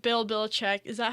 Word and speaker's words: Belichick: coach yeah hey you okay yeah like Bill Belichick is that how you say his name yes